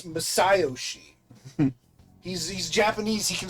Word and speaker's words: Masayoshi: Could it be Masayoshi Shido? Masayoshi. No, it's Masayoshi.